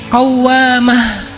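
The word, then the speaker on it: قوّامة: Kalau rajin sholat malam dikasih tasydid, bacanya jadi qawwamah.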